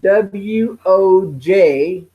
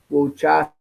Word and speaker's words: Wojcicki: Susan Wojcicki, that's Wojcicki, Wojcicki. I'll spell it one more time.